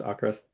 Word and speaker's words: AVKRVST: V's, so that's how I'm gonna say it. That's how you say it. I kind of say that that way in my head, even though I know it's Ocrist, but yeah.